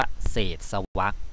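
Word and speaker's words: เศษวรรค: แล้ว ก็ จริง ๆ อัน นี้ ต้อง อ่าน ว่า เศษ สวรรค ที่ แปล ว่า วรรค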